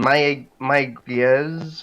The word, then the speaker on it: Mayagüez: This is in Mayagüez, I think that's how it's pronounced, Puerto Rico.